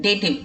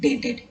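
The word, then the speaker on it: dative: डेटिव, इट इज डेटिव नॉट डेटेड।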